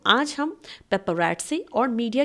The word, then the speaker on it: paparazzi: मैं आपके लिए लेकर आई हूं difference between Pep रटस and media ध्यान रहे इसे हम पेपर प्रोनाउंस नहीं करेंगे इसे प्रोनाउंस किया जाता है पेप रटस ठीक है पेपर एटस यह वर्ड बहुत ज्यादा